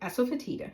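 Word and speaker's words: asafoetida: Now this is asapertida and there are a couple ways you could pronounce it but that is how we pronounce it in our household. Asapeta and it's the gum of a tree.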